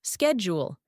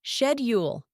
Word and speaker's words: schedule: different L for example Americans might pronounce schedule as schule but in the UK it's shedule and Australians well they